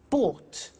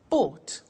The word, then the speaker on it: bought: Buy, bought. You notice that O-U-G-H-T is pronounced ought. Buy, bought.